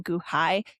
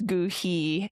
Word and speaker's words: Goohi: Even though it's not really a word, the h i would be pronounced e. So, it's Gooही.